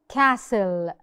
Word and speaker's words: castle: Castle. Castle. زي ما قلنا لو S T L E هنا عندنا ال S ظهرت وفي آخر الكلمة في L E وفي وسطيهم T. This means the T is silent.